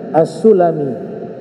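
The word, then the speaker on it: السلمي: ada di Hijaz itu dinamakan dengan apa assulami kalau dibaca asalimi asalimi ya itu suku kecil yang ada di Madinah namanya Banu Salamah beda ya kalau asulami itu Banu sulaim suku sulaim kalau As assalimi ya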